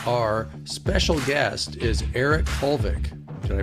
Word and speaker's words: Holvik: Today our special guest is Eric Hulvik. Did I pronounce it right?